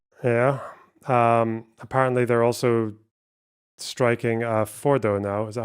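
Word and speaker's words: Fordow: Apparently they're also striking Fordo now. Is that how you say it? I think they have, yes. That's Fordo.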